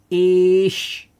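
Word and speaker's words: איש: It's said like in one go, ish. Because where we have the I and a Y, it's just like a long I sound.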